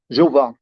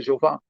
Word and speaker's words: Jeová: Não existia esse som de J nem no hebraico, no aramaico, no grego, no latim. Nenhuma dessas línguas tinha o som de J. Por isso, não era possível existir a pronúncia Jeová.